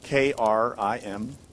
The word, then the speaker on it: Krim: which is from Sanskrit, which we spell K-R-I-M, but is pronounced Krim. So that I is an E sound.